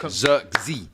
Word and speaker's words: Zirkzee: Say it right, Zirkzee. Zirkzee. Too many man mispronouncing his name, bruv.